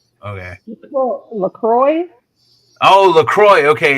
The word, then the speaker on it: LaCroix: Jonathan but I don't even know how to pronounce Crow cross nasty stuff in the store today look lacrosse okay well LaCroix oh Lacroix okay it's flavored water with no